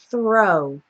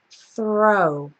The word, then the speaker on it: throw: that's more like TR you really want a nice clean th sound that just transitions into the r sound so let's practice throw throw we also have thrilled